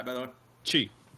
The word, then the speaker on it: Chi: Is it pronounced Shai, by the way? Chi. Chi. Okay. Like Tai Chi.